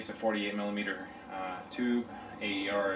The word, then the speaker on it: AER: AER is air, that's how they say it.